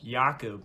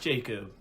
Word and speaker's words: Jakob: I hate that everybody keeps saying his name wrong. Jakob, not Jacob.